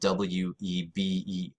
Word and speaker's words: Weber: Now, Weber is spelled W-E-B-E-R, but it's pronounced with a V because it's German, so you pronounce it Weber.